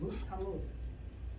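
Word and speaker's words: מות תמות: And it's pronounced mut tamut.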